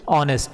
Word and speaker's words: honest: Honest, it doesn't pronounce like that, honest, we pronounce it honest, so o, so here an will replace a.